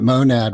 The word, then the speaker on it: monad: It's interesting that monad rhymes with gonad which is the creation.